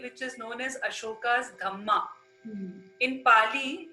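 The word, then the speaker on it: dhamma: is known as ashoka's dhma in Pali in Pali language DH is pronounced as dhma d h m m a so through his dhama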